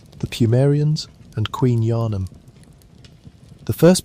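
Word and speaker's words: Pthumerians: The name is spelled with a silent beginning and you may simply say it as the mere eons.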